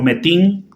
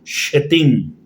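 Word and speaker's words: שטן: Algunos lo pronuncian como metín, otros lo pronuncian como shetín. Creo que la palabra correcta sería shetín, que un literalismo al español demonio.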